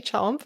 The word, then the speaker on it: Chomp: But our first couple months in Hong Kong, if you have a Cantonese accent, it sounds like Trump.